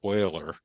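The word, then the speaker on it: Euler: Superstar mathematicians like uh Leonard Oiler uh who's basically famous for having a name that is pronounced differently from the way it's spelled um created so much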